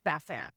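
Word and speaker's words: SaasAnt: And just FYI, if you call their number and you get their recorded information about something, they say Sassant. Okay. If they pronounce it that way, then we'll pronounce it that way.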